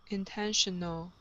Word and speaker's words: intentional: intention no it's intention so it's an uh sound plus an l intentional intentional okay one more time